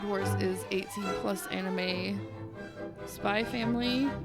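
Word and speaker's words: SPY×FAMILY: is 18 plus anime spy family but you don't pronounce the X what Spike family no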